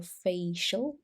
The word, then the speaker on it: facial: disease correct dental irregularities and treat dental or facial injuries just note here this eye is silent in english facial injuries okay so in the listening test you